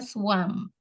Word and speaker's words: swum: Jadi tulisannya swum, bacanya swam. Mam. Yang, jadi kalau misalnya kan dalam bahasa Inggris tuh yang ada huruf U itu bacanya A, yang ada A itu bacanya E, ya kan? Mm. Baca yang I dibaca I.